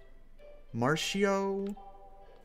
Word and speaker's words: Marcio: Say Mar, then C, then say O.